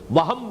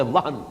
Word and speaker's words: وہن: note کر لیجئے، وہن، ویسے یہ کہ تلفظ میں وہم جو ہے میم کے ساتھ، یہ چونکہ ہمارے ہاں عام طور پر لفظ استعمال ہوتا ہے، آپ کو مغالطہ نہ ہو، یہ نون کے ساتھ ہے وہن، اور وہن ہی سے